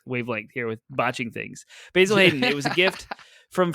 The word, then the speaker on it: Basil Hayden: not a real thing basil hayden bourbon right yeah i said it right for some reason i would say hazel baiden and that's not correct so we really are